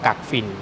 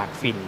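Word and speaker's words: กักฝิ่น: พี่ ก่อน อื่น ขอ แก้ ข่าว ให้ หลวง พ่อ ก่อน หลวง พ่อ ชื่อ ว่า หลวง พ่อ กัก ฝิ่น หลาย ๆ คน ไป พูด ว่า หลวง พ่อ ท่าน ชื่อ หลวง พ่อ กาก ฝิ่น ออก เสียง ผิด ออก เสียง ผิด แล้ว ก็ ออก เสียง ผิด ก็ ทำ ให้ เข้า ใจ ผิด นะ ไม่ ใช่ กาก ไม่ ใช่ กาก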